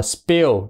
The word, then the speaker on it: spill: thổi ra hết nha nó đọc là spill chứ không phải là sp pe không có thổi ra nha p pờ như